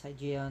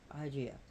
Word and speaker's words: Hygeia: So the H is not pronounced in Greek, so I'm sorry if I pronounce Hygeia and I should say Hygeia.